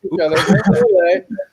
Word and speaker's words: ukulele: Ukulele is the correct way to say it.